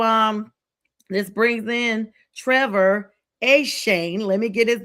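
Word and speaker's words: Etienne: So, um, this brings in Trevor a Shane. Let me get his name correct because I heard that it's not Etien, you guys. His brother's like, it's a Shane.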